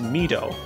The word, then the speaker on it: Mido: It's originally in the original Japanese version of the game meant to be pronounced Mido, because it's derived from the Japanese word midori, which means green, because, of course, Mido